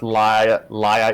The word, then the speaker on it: Leah: Okay, just so we're all clear, yes, the character's name is pronounced Laia, even though it's spelled like Leia or Leah. Yeah, I always really weird. Yeah, I always pronounced it as Leia because, like, that's what it looks like to me.